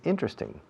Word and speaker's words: interesting: Teóricamente, esta palabra tiene 4 sílabas. Interesting. Interesting. 1, 2, 3, 4. Interesting. Pero los nativos solemos decir, no todos, pero la gran mayoría decimos interesting. Interesting. Acentuando la primera sílaba. Interesting. Interesting. Interesting. English is interesting. This class is interesting. It's not boring. En Estados Unidos, en algunas zonas dicen interesting. Inner, como si la T no estuviera.